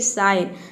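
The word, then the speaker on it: sign: लेते हैं तो देखिए यदि किसी वर्ड में जी एन एक साथ हो या फिर जी के बाद अगर एन हो इस तरह से समझे तो वहां पे जी साइलेंट रहेगा जैसे कि साइन साइन में देखिए जी और ए एक साथ आया है साइन का मतलब होता है संकेत यहां पे जी को हम कहीं पे ग प्रोनाउंस करते हैं और कहीं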